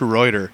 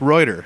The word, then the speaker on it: Reuter: It's pronounced Reuter.